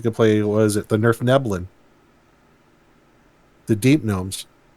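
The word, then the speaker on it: Svirfneblin: play was it the Nerf Neblin? The deep gnomes. Yes, it's pronounced Nerf Neblin.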